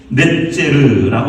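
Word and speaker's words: נצר: 상 이라는 의미가 있습니다 넷째를고 하는 말이 히브리서는 새싹이라는 단어입니다 그래서 나무를 자르면 그곳에서 싹이 나오잖아요 그 그르 턱이라고 기는데 그걸 넷 째라고 발음하고 있습니다 새싹 메시아가 새싹처럼 그곳에서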